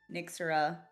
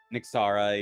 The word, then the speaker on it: Nixara: Um until Nixura, is that how you pronounce it? Nixara. Yeah, it's close enough.